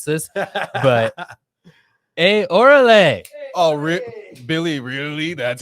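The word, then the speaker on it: órale: But orale. Oh, Billy, really? That's how you're going to say it? Sorry. It's orale.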